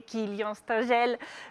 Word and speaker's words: Kilien Stengel: Allez tout de suite, le local génial du jour un peu, c'est lui, c'est Kylian Stengel. C'est bon, je l'ai bien proposé? Oui, tout va bien. Je l'ai bien prononcé, pardon, mais je me trompe dans les mots.